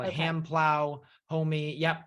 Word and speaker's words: homi: They call it hand plow, homie. Yep, and that's spelled HO-MI.